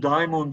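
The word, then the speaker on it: δαίμων: İşte daimon'u daimon diye okumamızın nedeni o arkadaşlar. Modern Yunanca'da ikisi aynı çıkıyor. Daha doğrusu bu da demon diye geçiyor da o demon diye okunuyor o zaman daimon.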